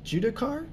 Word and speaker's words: Judicar: It's judicar, which is Latin for the word judge and jury.